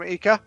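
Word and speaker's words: Ika: hello David David from eeka is it am I pronouncing it right David is EA AA it's EA yeah that is yep that is right eeka is a squid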